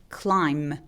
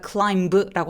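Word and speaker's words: climb: 똑같이음 소리를 내서 비소리를 없애버리죠 그래서 어디 오르다는 클라임 클라임맥 그래서 클라임브라고 하지 않아요 그래서 클라이밍이라고 하죠 우리가 클라이밍 그래서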